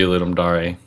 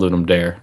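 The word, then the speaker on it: Ludum Dare: same way like yeah I think it's supposed to be ludum Dar um but I think most of the time it's just called Lum dare which is uh probably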